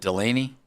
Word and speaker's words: Delane: Ree, David Bailey, um Dan, how do you pronounce Mansour? Is it Delaney or is it Dylan?